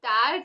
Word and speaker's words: tard: The D is silent, okay? Most of the words, all the words which end with a consonant, the consonants are not pronounced, okay?